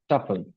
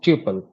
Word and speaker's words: tuple: uh there is something called as a tle or a tuple whichever the pronunciation suits right so the tle is